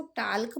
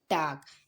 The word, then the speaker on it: talk: तो क्या अब हम इसको टाल्क पढ़ेंगे? बिल्कुल नहीं, टाल्क नहीं पढ़ेंगे। अब हम इसे हम पढ़ेंगे टाक। इसमें क्या साइलेंट है, इसमें एल लेटर साइलेंट होता है।